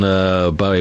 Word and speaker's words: Bowie: I could do 3 hours on Bowie. It's Bow as in no, not Bow as in now.